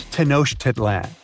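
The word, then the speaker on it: Tenochtitlan: It's Tanosh Tedlan. And Mayan cities are hard to pronounce too.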